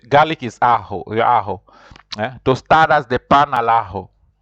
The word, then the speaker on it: ajo: As you say, garlic is ajo. Tostadas de pan al ajo. Remember, J is pronounced like a H, so that's why you'll